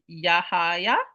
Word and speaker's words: Yahaya: pronunciation yes Musa says okay no J it's why okay so it's yaha yaha yeah all right thank